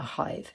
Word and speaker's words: Sadhbh: It has a shavu there, meaning that it puts a H in when you're calling someone's name. A how, a Sadhbh, a hive. So apparently that's the way some people in Connemara pronounce Sadhbh.